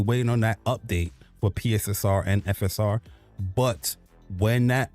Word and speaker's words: PSSR: FSR and PSR actually come from Hold on. It's PSSR, Jack, not PSR. You heard Jack? He said PSR. Come on, man. It's PSSR. Say it right.